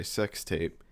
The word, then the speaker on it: SX Tape: So, yes, this this movie just came out this year and it it is spelled SX tape, but I think we're all supposed to just say sex tape.